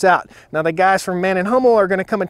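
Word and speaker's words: Mann+Hummel: Man & Hummel? It depends on where you're from. Okay. So if you're from Germany, you'll say Man & Hummel.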